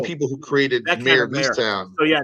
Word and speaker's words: Easttown: But like these dramas, like Mayor of Easton. Did you see that? Yes, Jeremy Renner's prison show. Certainly. No. That's the mayor of. Oh. No, I might have said it wrong. Mayor of Easttown.